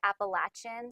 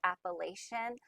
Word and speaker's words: Appalachian: Some people say Appalachian, some people pronounce it Appalachian. Both pronunciations are correct. It's kind of like tomato, tomato.